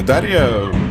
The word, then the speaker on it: Дарья: дарья друг ничего не дарья вот именно так да правильно произносить имя и ты черногорская футболистки